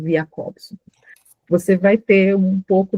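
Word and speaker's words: Jakobson: se escreve Jacobson e se diz Jacobson.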